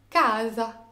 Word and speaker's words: casa: alors l'accentuation se fera forcément sur l'avant dernière syllabe casa et voilà j'espère que cette vidéo vous aura